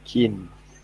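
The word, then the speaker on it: kein: Keen. Keen, correct. Saya cakap I bunyi dia E, macam bahasa Melayu, keen.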